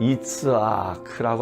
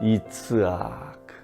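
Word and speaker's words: יצחק: 히브리 말로 이 이삭이란 단어는 이츠아크라고 하는 단어인데요. 발음을 그대로 해보면 실제로 우리 입에 미소가 생겨나요. 이츠아크.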